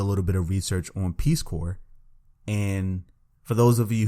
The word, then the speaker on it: Peace Corps: bit of research on Peace Corps and for those of you who don't know what Peace Corps is and maybe some of them pretty maybe some of you pronounce it as Peace corpse it is basically an